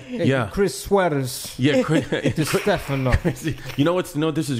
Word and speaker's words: Distefano: We got Chris Distefano. Yes. Did I say it right? You nailed it. Man, let me do it one more thing. Chris Distefano.